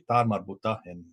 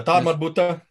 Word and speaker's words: ta marbuta: And in the Quran, you'll notice that it has a ta marbuta, which is the at sound at the end of the letter of the word.